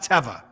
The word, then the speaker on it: Teva: both said it correctly nobody knows that it's pronounced teva well i dj for them i know that